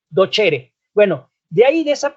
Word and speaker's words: docere: Se escribe docere, pero la C en latín suena como ch. Entonces dice docere.